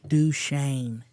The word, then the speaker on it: Duchesne: Was this something that happened to Duchesne as well? No. Oh, okay. Duchesne, man. That one wasn't Duchesne. I know, but Duchesne is a pretty cool town. Just even the name. Duchesne.